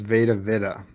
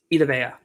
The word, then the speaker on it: Vita Vea: Shaq Parrott plus JPP plus Veda Vida. Oh, yeah. Vita Vea. Vita Vea? How do you say it? Vea Vita? Remember when they drafted him? Vita Vea.